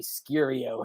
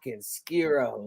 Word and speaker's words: Skero: for the longest time he used to call me skirio and I was like bro it's skiro like damn hell yeah